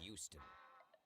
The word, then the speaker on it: Houston: the block like 50th between 5th and madison h-o-u-s-t-o-n street is pronounced houston what oh man okay you might